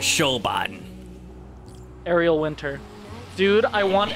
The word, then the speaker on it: Siobhan: fine fine that was how do you say that name no it's siobhan hello my name is shobhan ariel winter dude i